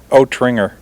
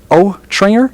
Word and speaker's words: Trainor: got our friend Bob I'm gonna say it ah Trainor am I saying it right or is it over here we've been arguing oat wringer Oh Trainor yes well we've said it every one of us was wrong then anyhow this is Bob